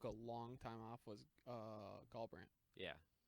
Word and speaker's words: Garbrandt: Was Garbrandt. Yeah, Garbrandt. Garbrandt. Yeah, it's Garbrandt. I just wanted to make you feel like you knew who I was talking Yeah. about, like Goldbrand.